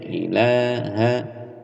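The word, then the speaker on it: إله: Dan di sini huruf 'h'-nya pendek. 'Ilaha', 'ilaha illa'. ' Kecuali Tuhan'.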